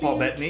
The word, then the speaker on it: Paul Bettany: Jennifer Connelly, and then Paul Bettany, is that how you say his name? Paul Bettany, yeah.